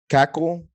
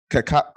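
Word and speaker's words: Kacal: He is running against an incumbent called Kyle Cackle. Cassell. How do you say it? Cassell. Cassell. Oh, okay, Cassell.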